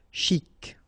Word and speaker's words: chic: Chic, okay, you pronounce the final C, and then CH together, sh, chic. De banlieue, okay, final E not pronounced, so I-E-U, I-E, L, lieu, banlieue, de banlieue.